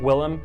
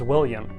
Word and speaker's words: Willem: with a name like willem people often mispronounce my name as william even on linkedin posts